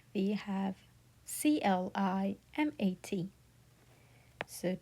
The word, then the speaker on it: climat: It would pronounce as climat, climat, like climat. The I is the E sound here, right? And then A is the A sound, right? We pronounce it climat.